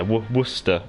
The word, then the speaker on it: Worcester: Yeah, Worcester. So almost like W as in like. Yeah, W-O-O as a like, but an emphasis in the O, and then stir.